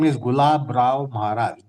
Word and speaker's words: Gulab: The author's name is Gulab Rao Maharaj. G U L A B Gulab. Okay. G U L A B Gulab. Gulab Rao Maharaj.